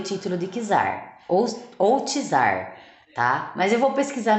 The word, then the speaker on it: czar: o termo que usar gente pronuncia tzar tá foi para foi